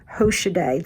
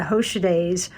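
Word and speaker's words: Hoschedé: earn their living and i believe you pronounce it hoshide the hoshide family was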